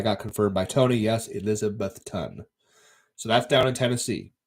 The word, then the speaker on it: Elizabethton: position to squat so okay yes okay it's pronounced Eliza bethun okay Eliza Beth ten yes and then I got confirmed by Tony yes Elizabethton so that's down in Tennessee on the border